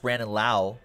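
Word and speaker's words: Brandon Lowe: That's pronounced Brandon Lau, by the way. Other Tampa Bay Rays prospect, Nate Lowe, got called up. Same spelling.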